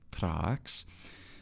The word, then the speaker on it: Thrax: the clear statement by dionysius thrax who is in fact called Trax that the Iota in